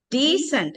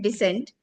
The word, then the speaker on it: decent: Decent. Not descent. Decent. Longy.